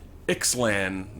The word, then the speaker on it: Ixalan: He's also looking at a Banishing Light and Treetop Village and a new card from Ixalan. Is that how you pronounce it?